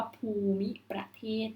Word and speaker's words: ภูมิประเทศ: ว่า ภูมิประเทศ E5 ภูมิประเทศ ไม่ ได้ เข้า ข่าย ต้อง จัด ทัณฑฆาต หรือ อ่ะ ออก ต้อง แม่ ค้า แต่ เป็น ลักษณะ ของ การ ออก เสียง เชื่อม คำ นั่น เอง นะ คะ ออก เสียง เชื่อม ที่ เป็น เชื่อม แบบ สระ อิ นะ คะ ก็ จะ เป็น ภูมิประเทศ นะ คะ ข้อ นี้ อ่าน ว่า ภูมิประเทศ นะ คะ อ่าน ผิด นะ